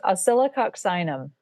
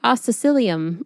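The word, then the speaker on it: Oscillococcinum: It's pronounced oyoxinum. Yeah. See, I always say ocylium and Yeah.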